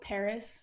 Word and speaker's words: PVRIS: lineup um I know Paris spelled pvris is new I love